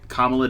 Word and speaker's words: Kamala: a new vice president kamala kamala debbie harris that's a good way to remember the pronunciation that's true um so